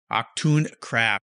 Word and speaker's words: Achtung Craft: It's Achtung, like a warning in German, you know, Achtung, and then Craft, one word. Achtung Craft.